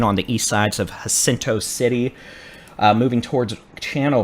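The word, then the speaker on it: Jacinto: hope so at least I believe it's pronounced hinto hinto okay that's what I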